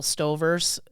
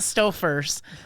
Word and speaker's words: Stover: But like, you know those Russell Stovers? Yeah. I don't know. The Russell ovens. Not Stofers, but Russell Stover, right?